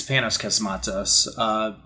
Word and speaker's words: Panos Cosmatos: This is the follow-up from, I want to say his name is like Panos Cosmatos, like, yeah, it's Panos Cosmatos.